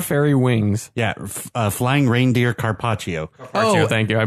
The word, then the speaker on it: carpaccio: goes great with flying reindeer, Caprico, and Templar fairy wings. Yeah, flying reindeer Carpaccio. Oh, thank you. I butchered the hell out of that word.